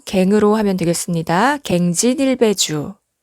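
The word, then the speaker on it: 更進一杯酒: 앞서 설명드렸듯이 고치다의 의미로 쓰일 때는 발음이 경이고요. 다시의 의미로 쓰였을 때는 발음이 갱이죠.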